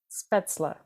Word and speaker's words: Spätzle: had to stop and remember how we learned to pronounce it spla right speta which I always pronounced wrong apparently speta is like if